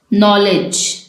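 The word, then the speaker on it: knowledge: यहाँ पर अब आप देखिए नॉलेज में हम जो वर्ड है नॉलेज का वो एन से स्टार्ट कर रहे हैं।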